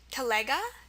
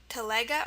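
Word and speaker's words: телега: Some example words are telega. It's a great word, T-E-L-E-G-A. Telega, or I think it's also pronounced telega. So I think it's telega or telega.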